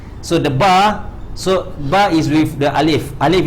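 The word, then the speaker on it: باء: If there's an equalizer, when you recite this ba, the second part of this ba, it will be like this. Ba. See the equalizer. So I go up, prolong at alif, ends at hamzah.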